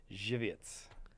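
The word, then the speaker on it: Żywiec: a here's another one but I will say it correctly alright it's a Polish lager that's very popular Poland it's very good Jew vietze I've heard it yeah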